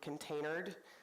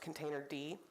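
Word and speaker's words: containerd: advantages most Cloud providers default to containered which is actually pronounced container D and each stack of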